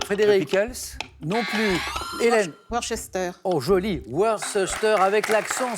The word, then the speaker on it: Worcester: qui sont très bizarres, parce qu'il y a un C-E-S-T-E-R, mais C'est ça ça. se prononce en une seule syllabe. Alors, redites-le nous. Leicester, Worcester.